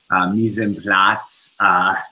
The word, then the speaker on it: mise en place: He runs a company called mepNYC, mise en place, if you will. Did I pronounce that correctly?